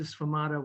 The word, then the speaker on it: sfumato: And this is called Lisa Sfumato.